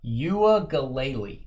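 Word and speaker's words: Uiagalelei: Uagalele, I think is how you say it.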